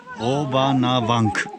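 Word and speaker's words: Hovhannavank: Hovanavank.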